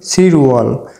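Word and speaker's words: 칠월: গিয়কের উচ্চারণ হবে না জুলাই মাস কে বলা হয় সিরওয়াল তাহলে সাইনোকরিয়ানে সাত কে বলা হয় সিল তাহলে নিচে যেহেতু রিউল আছে বাচ্চিম হিসেবে বাচ্চিমটি ইয়ং এর স্থানে গিয়ে তার মূল উচ্চারণে উচ্চারিত হবে তাহলে সিরওয়াল অর্থ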